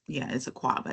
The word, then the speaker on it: Akwaba: In Ghana, the word welcome is spelled Akwaba. I mean, it's Akwaba. It's pronounced and it's spelled with a bunch of A's in it.